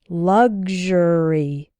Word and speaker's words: luxury: sounds like ksh sexual and in luxury and luxurious it sounds like g z h g luxury luxuous I often hear